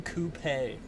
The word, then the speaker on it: Coupe: We're driving the Rolls-Royce Phantom Coupe. Rhymes with toupee, but much classier.